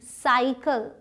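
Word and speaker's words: cycle: अब देखिए ये सी वाई सी एल ई साइकिल। दोनों ही स सी सी हैं लेकिन दोनों के साउंड्स अलग हैं। इसके बाद वाई है इसलिए यह स प्रोनाउंस हुआ। साई इसके बाद एल है इसलिए क प्रोनाउंस हुआ। कल सा सल।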